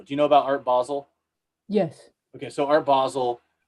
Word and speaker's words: Basel: Do you know about Art Basel?